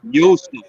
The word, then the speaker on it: Yosef: And you gotta say it the right way. There, you say Yosef. Good morning, Itza. Because that's how you pronounce it.